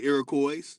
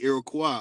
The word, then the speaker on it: Iroquois: First of all, they didn't call it Iroquois. Some say Iroquois, but it's really Iroquois. O-I-S at the end is a French pronunciation of Y, but really, it's way. O-way.